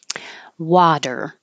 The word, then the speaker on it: water: Water, water. The T changes to a D because it's between two voiced sounds and it's in the unstressed syllable.